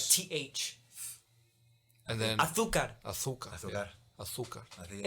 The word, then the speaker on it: azúcar: And then they like pronounce their Z's with like TH. and then Azúcar.